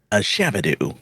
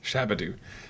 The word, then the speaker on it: Shabadu: Shabadu. Shabadu.